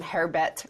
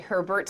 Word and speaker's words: Herbert: I like the way you mispronounced my second name hair bet and it's actually Herbert's my god but you